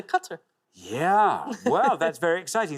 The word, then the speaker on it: Qatar: no you're right wow even where you're good pronunciation they say gutter so we say qatar yeah well that's very